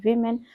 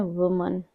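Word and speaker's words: women: वमन and four children अब यदि महिला सिंगलर है तो उसको लिखते हैं वुमन और इसको प्रोनाउंस कैसे करते हैं वुमन और यदि महिला प्लूरल है तो उसको लिखेंगे विमन और प्रोनाउंस करेंगे विमन वस ये द बस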